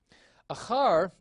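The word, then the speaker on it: אַחַר: And so you can see achar is accented on the last syllable.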